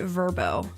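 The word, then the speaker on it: Vrbo: Okay, I guess you're supposed to pronounce it Verbbo.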